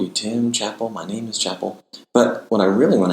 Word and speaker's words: My Name Is Chapel: because for some reason, despite the word being spelled chapel, like the word chapel, like a church building, so many people for some reason think it's My Name is Chappelle. Don't know why. So my bio right now on it's either Twitter or Instagram literally says pronounced like the church, not the comedian's last name, because for some reason everyone thinks it's Chappelle.